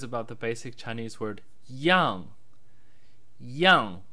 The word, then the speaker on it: 样: brief video is about the basic chinese word Yong Yong pronounced in the sharp descending fourth term which